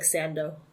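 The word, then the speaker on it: サンド: it's just the word it's just the word sand comes out like Sando yeah pronounced using Japanese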